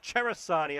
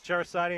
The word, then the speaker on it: Cerasani: Good pursuit again by Luca Cerasani, I was told, is how you pronounce it.